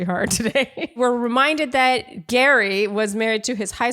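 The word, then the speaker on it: Gerry: the getting to know Gary this is going to be a bit of a mind thing because it's spelled Jerry but we say Gary and honestly just watching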